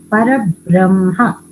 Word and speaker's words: परब्रह्म: pronunciation should come correctly, because Parabrahma, when we say this, after the bra, ha should come half and then ma should come out full.